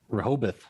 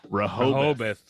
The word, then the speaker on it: Rehoboth: of abington freetown and rehobeth rehoboth which is not how that is spelled no come on massachusetts